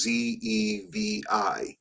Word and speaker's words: Zevi: Is that Zavey? I mean, Sabbatai, and the last name is Zevi.